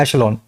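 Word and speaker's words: echelon: एचलोन लिखा हुआ है। लिखा जाता है। बोला जाता है ऐशलोन।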